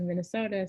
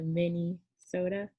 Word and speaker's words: Minnesota: She'll say, I want to go to Minnesota so I can get me a mini soda, like, you know, a soda you drink, and it's Minnesota. It's the same thing. It's not how you spell it, but that's how you say it.